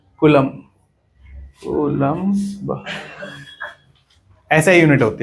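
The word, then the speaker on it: coulomb: बट अभी समझो SI unit क्या होता है कूलम होता है क्या होता है c से बोलते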